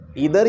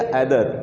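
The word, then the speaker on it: either: इदार या ऐदार। वे दोनों उच्चारण सही है।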